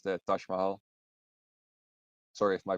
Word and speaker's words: Mahal: It's so that's like it's a thing, like people outside or like people in the West usually call it Taj Mahal, and it's also spelled that way, but it's actually pronounced Mahal.